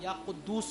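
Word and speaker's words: या क़ुद्दूस: या कुद्दूस सो वाव नहीं आता इनमें, पेश आएगा। या कुद्दूस पढ़ लें, या कुद्दूस पढ़ लें, आगे पीछे ना, या कुद्दूस।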